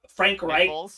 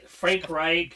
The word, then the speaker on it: Frank Reich: I mean, we've seen it with uh Frank Wright. Nick Fos, but he actually Frank Reich.